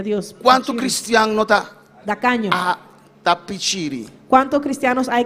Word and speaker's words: tacaño: E eu lo pronunciava com C em vez com T. Y mi tata pronuncié con C en vez de un T. E hermano pastor Dario quando me escuchou, disse: não é assim, é tacaño.